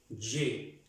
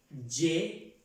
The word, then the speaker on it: je: Entonces, yo se pronuncia je, no ye, no ye, como si dijéramos la J con una E en español, no.